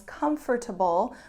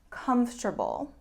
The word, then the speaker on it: comfortable: my next word is comfortable which should actually be four syllables comfortable but most of the time it's reduced to three so most people pronounce it comfortable and it means relaxed